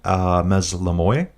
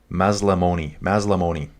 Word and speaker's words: Maslamoni: Okay, so this is Team Mazlamoy. Sorry, dude, I just butchered your name. dude, can you give me phonetics on your name? Mazlamoni.